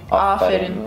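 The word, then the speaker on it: aferin: Afirin. Yeah. We say like afirin. Yeah, it's a bit more like, without, you know, stressing like, f's or anything.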